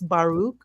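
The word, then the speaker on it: Baruch: Um that's not how you pronounce his first name. Spinosa. No, his first name is Baruk.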